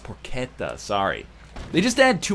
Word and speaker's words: porchetta: Oh, it's pronounced porchetta, sorry.